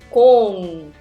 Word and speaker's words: 공: When iung is acting as final consonant, it's NG sound. So here we got 기억, 오, 이응. So iung as a final consonant, NG. So this whole syllable will be 공.